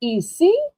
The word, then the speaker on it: ici: In French class, we would say ici, voilà.